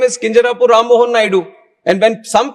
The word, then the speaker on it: Kinjarapu: And when some people say Kinjarapu, there might be some problem with them. They can't pronounce it the way I pronounce it. But that doesn't mean that I'll change my name so that it becomes easier for them.